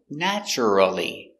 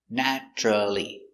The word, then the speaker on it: naturally: next we have naturally it looks like naturally four syllables but we don't pronounce it with four syllables we pronounce it with three naturally naturally puppies are naturally